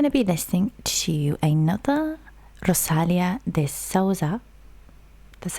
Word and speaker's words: Rosalia de Souza: So we are going to be listening to another Rosalia de Souza. That's how you pronounce her name.